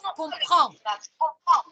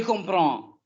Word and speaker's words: comprends: On ne prononce pas le D final. Je comprends. Je comprends.